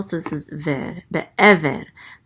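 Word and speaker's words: בְּעֵבֶר: Be'ever. The accent mark is on this syllable, so it's be'ever.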